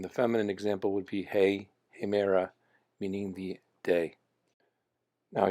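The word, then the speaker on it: ἡ: the feminine would be hey and again it has a rough breathing mark over the ada so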